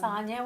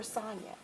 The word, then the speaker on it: Sonja: And Sonja with the J. that's because I have to make sure people know. My mom wanted to be different. Yes. She didn't spell it with a Y or an I. It was with a J. But it's pronounced Sonja.